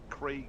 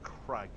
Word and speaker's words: Craig: Is this the same as the Americans that think Craig is pronounced Crag?